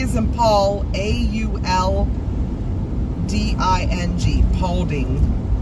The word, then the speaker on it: Paulding: Yeah, it's spelled P as in Paul, A-U-L-D-I-N-G, Paulding.